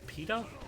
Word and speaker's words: pitot: call peta peta peta I've always said paid up because I think of it like a Latin eat like he is sitting with an ounce a in in Latin languages and a is pronounced ah I always think like peda when I see acronym apparently its pitot heat a wouldn't be Pete a that would sound stupid power slide through its